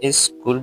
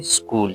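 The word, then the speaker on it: school: इसको भी लोग क्या ई से शुरू करते हैं। एस स्कूल बोलते हैं। तो करेक्ट प्रोनाउंसिएशन इसकी क्या है? स्कूल। सिंपली हम क्या कहते हैं? स्कूल। ये भी हम उर्दू में क्या? स्कूल बोलते हैं। सीन से शुरू होता है। तो मतलब इ एक्स्ट्रा नहीं लगाना। सिर्फ इससे शुरू करना।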